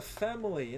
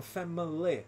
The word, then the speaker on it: family: Aqui na música ele acaba falando family, né? Family. Ficar com 3 sílabas. Mas como a gente está falando na frase normal, a palavra family tem só dois sons. Family. Family. Family. São só dois sons. Na música acaba ficando com 3.